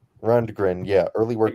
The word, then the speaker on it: Rundgren: guy's last name correctly run degren Rundgren yeah early work exactly how it's spelled just run grund it's actually some pretty